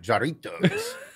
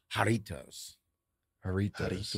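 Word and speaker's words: Jarritos: a the J is silent it's pronounced with an H haritos haritos yeah kind of like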